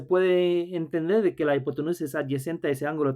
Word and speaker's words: hipotenusa: También en español en español es hipotenusa, se escribe con esa H silenciosa al final, al principio, la hipotenusa o hypotenuse en inglés.